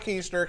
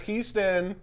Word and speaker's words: Keiston: It's not keister. Keiston. Or Keston. Or Keston.